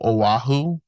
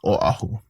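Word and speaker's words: Oʻahu: They go Oahu. Oahu. But just know that there's a okina between the O and the A.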